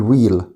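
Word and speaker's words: wheel: طبعا حرف الاتش هنا سايلنت بنقول ويل.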